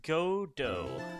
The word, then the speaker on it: Godot: it it can also be pronounced godo like the play character I actually don't know